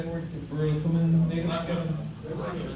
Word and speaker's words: Burakumin: Burakumin natives? Burakumin natives.